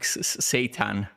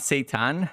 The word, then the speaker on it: seitan: I will show you how to cook seitan. Seitan. Not Satan, but Seitan.